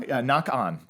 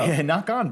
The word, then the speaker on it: Ngoc Anh: Ngoc Anh is that how you pronounce it. Knock Anyway, on, bro. Ngoc Anh, bro.